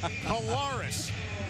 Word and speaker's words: Collaros: guides, sophomore quarterback Zach Collaros. And his mom and dad want everyone to know that that's how you pronounce the last name, Collaros.